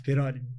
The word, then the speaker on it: Piroli: Então, nossos convidados de hoje são José Pezzi, engenheiro civil, o Piroli, é assim que pronuncia? Isso, Piroli, bem italiano, assim.